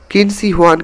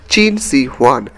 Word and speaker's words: Qin Shi Huang: रखे थे किन सवान किन सवान का असली प्रोनाउंस है चीन सीवन जिससे अभी का चीन